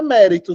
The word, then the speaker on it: mérito: aqui tem duas sílabas a palavra mérito tem quanto mérito três focos três Então ela é trissílaba isso vai fazer com que e além de TR trissílaba a sílaba tônica não é a penúltima é a antepenúltima é a antepenúltima se